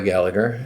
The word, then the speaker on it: Gallagher: about Rory Gallagher, and they let me know the pronunciation is Gallagher. I get that if you're Irish. Completely respect that. But you know what? I'm not Irish. I have a friend whose last name is Gallagher. He lives here in the U.S. That's how he pronounces it. I'm sure his ancestors pronounced it Gallagher, as they should have.